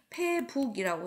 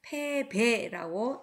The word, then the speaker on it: 패배: 패할 패자하고 북녘북하고 같이 쓰이면은 이것은 패북이라고 쓰면 안 되고 패배라고 읽어야 합니다.